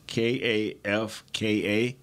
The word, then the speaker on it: Kafka: So the offensive coordinator is Mike Kifka, K-A-F-K-A. Is that pronounced right?